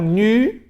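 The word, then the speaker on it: ν: Aí continua o alfabeto, nu, mesma coisa, não vai anasalar a vogal, você vai pronunciar né. Nu é o nome da letra, o som é né.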